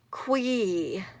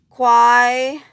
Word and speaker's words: Qui: Qui. You gotta get your Qui, everybody. Am I right? Probably should change what? Qui like rhymes with rye. Quai.